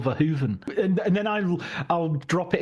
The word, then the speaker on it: Verhoeven: I was told by a Dutch friend it's Paul Verhoeven, and then I'll drop it into conversation.